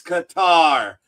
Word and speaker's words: Qatar: And folks, again, it's Qatar. You see it, Qatar. Qatar. It's not Qatar. It is Qatar. Speak English, you dumb bastards. And when you ask someone from Qatar how it's pronounced, they tell you it's Qatar, not Qatar.